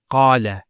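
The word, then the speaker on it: قال: First one here is qala. Notice the elongation of the A sound. Qala. Not qala, qala. So we have the fatha on the qaf, followed by the alif.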